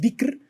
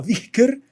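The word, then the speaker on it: dhikr: en árabe es el dicr no no sé cómo se pronuncie di es que hay una H de por medio y creo que la H tiene un sonido medio en elent es como dicker no que es este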